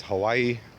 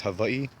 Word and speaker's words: Hawaii: You guys might know it as Hawaii. It's actually pronounced Hawaii.